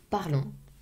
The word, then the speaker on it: parlons: Nous parlons, final O-N-S. Remember that as well, final O-N-S, always. I can hear like very weird things with the nous. Nous parlons, O-N-S, always, nasal sound.